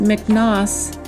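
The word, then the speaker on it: מכנסי: So that word in the Blue Letter Bible in the Hebrew is pronounced miknos, and it's number H3647, and it means underwear, a priestly undergarment of linen.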